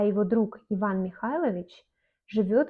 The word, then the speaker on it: друг: Друг, on écrit друг, mais on lit comme друг.